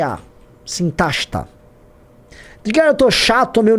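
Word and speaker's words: Sintashta: que estão todos esses que estão aí, procura lá sinta horizon sinta que se escreve s i n t a s h t a sintasta eu tô chato tô meio nerdão falando ou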